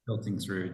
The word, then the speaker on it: Piltingsrud: Piltingsrud, just like it's spelled.